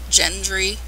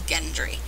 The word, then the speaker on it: Gendry: that's gendry it looks like it should be pronounced gendry it's g-e-n-d-r but it's gendry it's how they pronounce his name and um